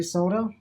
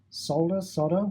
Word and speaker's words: solder: I use a lead-free solder. Solder. That's correctly pronounced solder, but in Australia we call it solder.